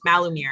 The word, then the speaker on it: Malumir: with malamar who is the am i pronouncing that right malamir yes malumir mal malmur you got it sorry sorry